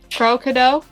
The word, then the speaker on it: CrowKadow: plug your channel i want to see you pronounce my channel name though do it pro-kado yes good good job you get a cookie